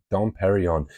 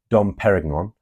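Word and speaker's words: Dom Pérignon: heartbreaking it really is Don Perry on I've got to say thank you to Taylor at this point because I always pronounced it Don peragon because I am I'm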